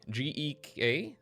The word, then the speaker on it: gek: G-E-K? G-E-K in Dutch is pronounced gek.